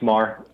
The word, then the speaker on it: Maher: Is it Maher? Thank you for asking. It's Maher. Maher, Bill okay. Maher, the political commentator, M-A-R, All right.